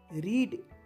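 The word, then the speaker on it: read: শব্দ হিসেবে ব্যবহৃত হয় রিড শব্দটি ইংরেজি ব্যাকরণে ইররেগুলার ভার্ব হিসেবে ব্যবহৃত হয় যা টেন্সের পরিবর্তন হলে উচ্চারণের পরিবর্তন হয় প্রেজেন্ট টেন্সে এর উচ্চারণ হয় রিড আর পাস্ট টেন্সে এর উচ্চারণ রেড হয়ে যায়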